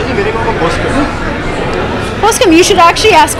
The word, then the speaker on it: Poskem: It's called Poskem. Well, it's Poskem, but Poske is the pronunciation, and it's his third book.